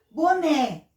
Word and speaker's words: boné: Boné, mesma coisa. O E é a sílaba mais forte, o né. Então, o E está como a sílaba mais forte, o E é pronunciado com o som de E, tá?